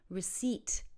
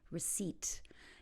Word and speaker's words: receipt: first one is receipt receipt the P is silent so repeat after me receipt and so when you go to a store and you've paid for something you could ask for a receipt and the next one